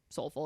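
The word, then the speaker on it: SOLFL: and since then the educational brand has relaunched as Soulful pronounced Soulful it's s-o-l-f-l and the acronym stands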